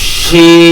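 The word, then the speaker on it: ش: এই শিনটা এবং সিনের মধ্যে পার্থক্য রয়েছে। আপনার জিহ্বাটা যাতে দাঁতের সাথে না লাগে এবং মধ্যকান অর্থাৎ জিহ্বার মাঝামাঝি উপরের মাড়ির সাথে, উপরের তালুর সাথে, উপরের তালু জিহ্বার মাড়ি, সরি জিহ্বার মধ্যকান উপরের তালুর সাথে টাচ হবে।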